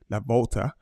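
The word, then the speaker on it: La Vuelta: So that's Wele, and he's like I said, he's riding the Tour of Spain this year, the La Volta, as it's pronounced.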